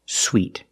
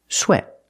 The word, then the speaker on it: sweat: word is not pronounced sweet this word is pronounced sweat sweat use the short e sound like in bed and ten it's a short sound